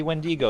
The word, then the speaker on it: Wendigo: would that be wendi-go i believe it's pronounced wendi-go yes wendy go a yes so pay by six get entered in for that awesome see VCS nine point eight what do you really think it's the wind ego no that's not how it's pronounced well that's moving on